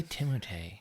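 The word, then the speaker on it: Timothée: into right now is timot shalam oh God I love this kid why do you say timot that's how you pronounce it I watched interviews with him literally nobody said it like that I know I only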